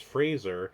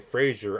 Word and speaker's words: Fraser: But we had gone into the movie, and one of them had said, "Oh, the actual pronunciation of his name is Fraser. We were saying Fraser our whole lives."